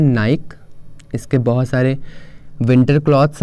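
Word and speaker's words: Nike: इसको लोग बोलते हैं नाइक। इसके बहुत सारे विंटर क्लॉथ्स आते हैं तो हम बोलते हैं नाइक, बट नाइक is totally incorrect, correct is नाइकी।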